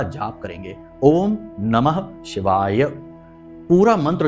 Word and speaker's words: ओम नमः शिवाय: पूरा मंत्र उच्चारण करेंगे बहुत से लोगों को हमने देखा कि मंत्र ही सही नहीं बोल रहे तो काम कैसे होगा मंत्रों में शक्ति है ऊर्जा है तो बोलते हैं ओम नमः शिवा ओम नमः शिवा तो ना तो नमः बोला ना ही शिवाय बोला तो ये गलती नहीं